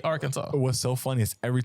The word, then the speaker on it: Arkansas: our Kansas you know since I know now that it's Arkansas I can't stop saying AR Kansas and I feel like I never will say Arkansas what's so funny is